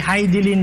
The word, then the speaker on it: Hidilyn: hidin o hidin ah Flor ang tamang pronunciation sa pangalan ni hilin ay hilin Diaz doun sa kanyang Facebook